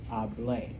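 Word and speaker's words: hablé: With the accent mark, it means I spoke, hable.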